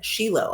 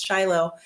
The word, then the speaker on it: Shiloh: it today begins in Shilo. I use the Hebrew pronunciation versus Shiloh.